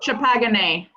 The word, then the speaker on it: Champagne: It's called Champagne. Y'all are saying it wrong.